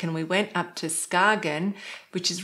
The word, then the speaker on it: Skagen: Now, most people know it as Skagen, but my relatives actually said Skagen. I think that's the Danish pronunciation.